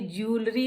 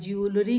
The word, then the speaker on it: jewellery: रहे हैं भाई, अपनी ज्वेलरी पहन रहे हैं, JEWELLERY, ज्वेलरी कहते हैं हम। No, this is wrong, the right pronunciation is ज्वेलरी, ज्वेलरी, ज्वेलरी, right pronunciation is ज्वेलरी।